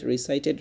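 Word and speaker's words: recited: রিসাইট মানে কি করা, তেলাওয়াত করা, রিসাইট, রিসাইটেড, রিসাইটেড, রিসাইট, রিসাইটেড, রিসাইটেড। Memorise, এখানে কি বললাম, রিসাইটেড, রিসাইট, রিসাইট এরকম বলি নাই কিন্তু, টি আসছে এই জন্য এখানে রিসাইটেড এরকম উচ্চারণ হয়, টি আসলে এরকম একটা একার উচ্চারণ হয়, রিসাইটেড, রিসাইটেড।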